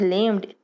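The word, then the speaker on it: learned: We pronounce it एज लिम्ड to rhyme with किसके साथ? तो क्रिएटेड और वेटेड के साथ।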